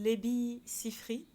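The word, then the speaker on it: Labi Siffre: à en sortir voilà voilà mais il s'appelle lebi sifri ça s'écrit l A B I et son nom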